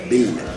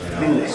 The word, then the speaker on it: Ville: Good pronunciation of it? Actually, pretty close. You have to kind of really put the L's. Ville. Ville, yes.